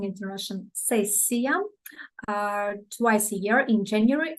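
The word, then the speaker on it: сессия: Examination session, we call it in Russian sessia. I'm pronouncing it in Russian sessia, twice a year in January and in June.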